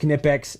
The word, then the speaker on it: Knipex: Yes, it's pronounced Knipex. Everybody who doesn't think so, you guys can eat it.